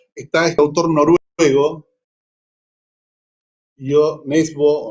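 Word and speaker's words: Nesbø: este autor noruego, yo, Nesbo o Nesbe, debe ser esa O con palito, como la de Peter Hecht, se pronuncia como una E.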